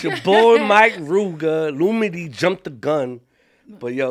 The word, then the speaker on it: Lumidee: No, it's the right way is Lumidee.